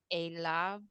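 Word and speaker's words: אליו: Adonai, uh, al, al, Yibe, Unfortunately, we don't pronounce the yod anymore here. Whenever you see yod vav at the end of the word, don't pronounce the yod. And then these 2 dots here, whenever you wonder what sound they make, you have your answer.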